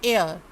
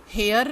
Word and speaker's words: heir: HEIR, HEIR, इस word का हम ज़्यादातर बच्चे इसका गलत प्रोनाउंसिएशन करते हैं। अब आप इसका बिल्कुल सही करेंगे। उच्चारण ये है एयर, एयर, हेयर नहीं।